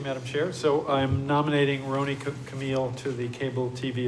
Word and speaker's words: Roni: Pronouncer is Roni Camille, like Tony with an R. If you could say Tony, you could say Roni.